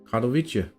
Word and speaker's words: Katowice: We pronounced it correct on the first try. Katowice.